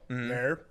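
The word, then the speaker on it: naur: They go no. Nair. They put an R on it. Yeah. It's Yeah. weird. Nair? It's spelled N-A-U-R. Nair.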